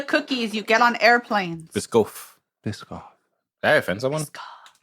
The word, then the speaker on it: Biscoff: It might be pronounced in a softer way, but that's how I I pronounce mean, it.